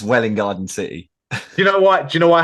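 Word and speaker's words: Welwyn Garden City: It's Welling Garden City and Letchworth Garden City.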